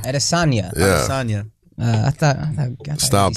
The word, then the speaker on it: Adesanya: Adesanya. Adesanya.